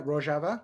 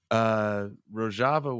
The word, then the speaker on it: Rojava: Yeah, Rojava. Yeah. Rojava was pretty popular around that same time that Trump was talking about pulling out, because it is a socialist region, correct?